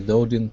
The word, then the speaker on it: doting: see his faults okay now with doting i would actually use a a flap t there instead of doting i would say doting like a doting parent like a dodean parent there you go that's